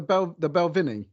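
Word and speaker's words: Balvenie: And how do you pronounce it? The Belvenie.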